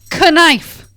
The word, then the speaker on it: knife: Just like they're like, here, sound out the word and you can spell it. Knife.